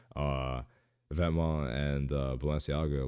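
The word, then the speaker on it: Vetements: glasses I have to say it right uh vetma and Balenciaga like these kind of brands that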